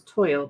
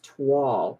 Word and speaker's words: toile: I always thought it was toil, but it's toile, like T-wall. Yeah, I had to look